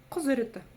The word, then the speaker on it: Құзыреті: Вот как буква И читается очень коротко, буква И, мягкая версия, да, ее читается тоже очень коротко. И это нечто среднее по мягкости между буквой И обыкновенной и буквой И тоже обыкновенной. Просто буква И очень мягкая.